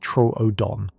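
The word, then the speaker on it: Troodon: One example is the small but smart dinosaur Trudeon, pronounced Tro Odon.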